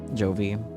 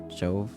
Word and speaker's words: Jove: Jovi. Jove. Rhymes with stove.